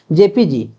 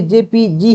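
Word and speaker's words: JPEG: ऐसा मत समझना कि जेपीजी ही इसमें है। सिर्फ ई इसमें साइलेंट रहता है।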